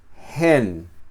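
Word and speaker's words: ἕν: ejemplo en espíritu suave, en y hen, espíritu fuerte. Estas dos palabras se escriben igual menos el espíritu, en este caso suave. En es la preposición en Y esa palabra aparece con el espíritu fuerte gen, entonces es el número uno.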